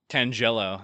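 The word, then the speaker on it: Tangela: Tangello. Yeah, there you go. That's a That's the correct pronunciation.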